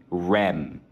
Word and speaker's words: Reims: And two different Rennes, N-N, Rem. I-M. I know, two very, very close, but not close enough.